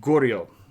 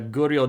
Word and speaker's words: Goryeo: kind of sound, which if you're adopting a sort of thick southern accent and you said Korea, that's actually pretty close to how you'd pronounced Goryeo.